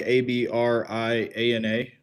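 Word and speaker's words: Abrianna: And your name is spelled or it's pronounced abriana like a b r i a n a two n's and an a and it's abriana.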